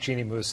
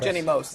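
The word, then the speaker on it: Jeanne Moos: And I just think Jeannie Moos is really, really clever. Jenny Moos. Oh, thank you for thank you for correcting my pronunciation in this very prominent way on camera.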